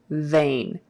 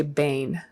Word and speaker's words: vein: touching so ba versus so vain don't say bane vein people will notice if you try to substitute a b for a v in english standard american english so don't do that